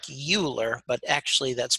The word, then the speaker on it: Euler: called the Euler number EUL ER looks like Euler but actually that's pronounced Euler so it's called the Euler number